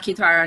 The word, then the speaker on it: Kitara: And it's pronounced Kitara. Nobody ever knows how to pronounce it, so just call me.